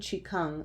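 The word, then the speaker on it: qigong: also the idea of ki gong something that I also practice that has similar moves that are repeated in yoga the more Chinese pronunciation Chi cung was a practice that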